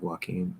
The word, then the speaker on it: Joaquin: about the fact that joaquin phoenix is pronounced like joaquin yeah so you gotta walk in phoenix exactly phoenix's are supposed to fly but this one walks joaquin phoenix um a